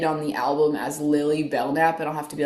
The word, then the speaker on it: Belknap: I have an Instagram and it's called Lily Bellnap and my middle name is Bellnap actually and it's spelled like B E L K N A P.